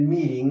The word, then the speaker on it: meeting: Recuerda que tenemos sonidos vocálicos, así que la eta T se va a pronunciar como una R.